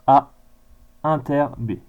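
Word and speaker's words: A ∩ B: Et donc du coup, on le note A inter B, ça se prononce A inter B.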